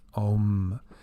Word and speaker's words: Om: Keep in mind here this that the Sanskrit sign is literally translated as a m. However, it's pronounced as om.